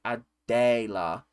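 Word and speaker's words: Adéla: Yes, I'm Czech, and the accented E is basically long, so it's like Adela. So it's like Ninja Dela, but I make most of my friends just say Adela, Adela. Oh, Adela. So it's like pronounced it like day rather than Del.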